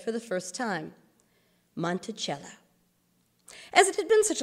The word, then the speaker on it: Monticello: gardens on the mountains beyond then he said monticello phonetically monticello little mount ah jefferson noted your cee